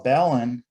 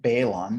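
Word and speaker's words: balun: antenna so what is a balance well a ballon is a device that converts a balanced circuit to an unbalanced circuit so it's not pronounced balon because you don't see it balanced at least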